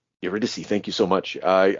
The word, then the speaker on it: Eurydice: I saying her name iridice eurydice thank you so much I I keep trying to pronounce it like a like Italian um yeah he puts